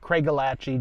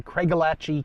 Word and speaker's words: Craigellachie: Now, I've heard it pronounced Craigellachie and Craigellachie or some other variations, but I'm going with Craigellachie just because that's what I grew up saying and it just flows the most naturally for me.